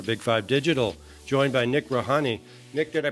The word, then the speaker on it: Nic Rawhani: content director for Big Five digital joined by Nick Rani Nick did I pronounce that right I you absolutely did you